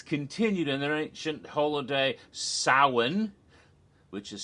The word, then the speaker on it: Samhain: nevertheless their influence continued in their ancient holiday soin which is spelled like Samhain but it's pronounced Allen became